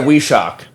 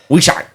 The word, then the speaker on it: Wyyyschokk: Those are Weeshok. Why? Yeah. The WYYYSCHOKK. yeah. Weeshok. Shock. Weeshok. That's how you say it in Wookiee.